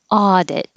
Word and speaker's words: audit: same sound as goal audit the first vowel is ah like awesome audit hold the t if